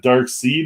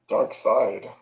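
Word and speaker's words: Darkseid: how to uh pronounce is it dark seed or dark side dark side i know but it's s-e-i-d like why wouldn't you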